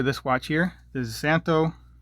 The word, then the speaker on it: Szanto: watch here this is santo santo the z is silent always forget santo military